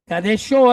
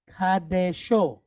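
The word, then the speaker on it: קדשו: Yeah, that's another vowel point called a meteg, and all it really does is tells us where to put the stress on this word. So it's on the end. All right. Most Hebrew words, the stress is on the last syllable. Okay. And it's the same thing here. All right. But they want you to pronounce it kadesho. Give it a little oomph, right?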